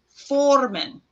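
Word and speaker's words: formen: this is the tingwar for North which is pronounced Foreman so it looks like a b with an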